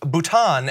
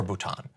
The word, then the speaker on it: Bhutan: to call it nipple he also pronounced Bhutan as button-button those aren't even the